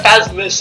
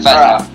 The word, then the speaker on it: Phasma: calling her Phasmis and then now Phasmith. Don't. Okay. Like I Phasmis can't- as in Christmas. Hey, I can't pronounce her name. Leave me alone. Phasma.